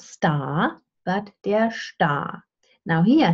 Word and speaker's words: Star: Also, der Star, without an R, right? Star, with a deep schwa.